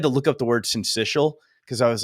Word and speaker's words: syncytial: look up the word syncytial because I was like, how do you say that? The S part? Syncytial? Yeah.